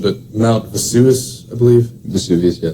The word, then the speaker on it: Vesuvius: I might mess up the pronunciation, but Mount Vesuvius, I believe. Vesuvius, yeah. Vesuvius.